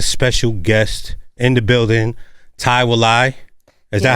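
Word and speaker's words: Thai Wilai: I got a special guest in the building Ty Wai is that how you say it am I saying it right yes Ty Ty Wai welcome to the show you know for the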